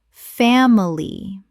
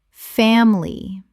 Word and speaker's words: family: Family. Correct pronunciation. Family. 2 syllables in natural speech. The middle I is almost always swallowed.